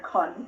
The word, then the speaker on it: Kohn: Just to clarify, it's it's Con but pronounced like John, which is which is why I put that there.